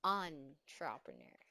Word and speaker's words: entrepreneur: Because sometimes it's going to be mispronounced as N, entrepreneur. So this is entrepreneur.